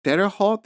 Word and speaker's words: Terre Haute: like um a federal penitentiary at like a Terre Haute is that how you pronounce it yeah yeah in Indiana yes so